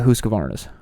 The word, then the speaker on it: Husqvarna: look at husqvarnas um i like the the emphasis on the husk i have to say it right for all the the husky synths out there as a guy who owns one now but uh the big